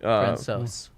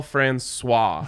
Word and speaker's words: Francouz: Speaking of pronunciations, the Avs goalie last night, Pavel Francouz. Yep, Francouz. On ESPN last night, they were calling him Pavel Francois, as if he was like French, and it